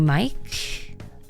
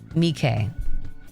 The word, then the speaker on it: Miike: Takashi Mike. I think that's how you say it. Or is it Mickey? Mike. Takashi. Also made an Audition. Miike. Takashi Miike.